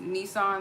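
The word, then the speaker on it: Nisan: Hebrew it's a mean it's pronounced Nissan like the car but it's one else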